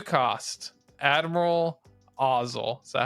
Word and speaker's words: Ozzel: 2 cost, Admiral Ozzel.